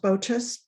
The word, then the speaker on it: Boches: um and um the last name is pronounced bochus but oh just i'm so sorry that's fine